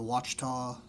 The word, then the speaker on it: Ouachita: guys are also you have the Ouachita. Is that the correct way to say it? Ouachita National Forest? Yeah, Ouachita National Forest, yeah.